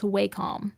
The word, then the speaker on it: Wacom: It is, fun fact, pronounced Wacom.